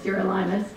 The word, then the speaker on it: Sirolimus: rapamune or Sirolimus, or if you actually look in Wikipedia, it's phonetically spelled out as Sirolimus, though my Pfizer contacts call it Sirolimus, so I call it Sirolimus.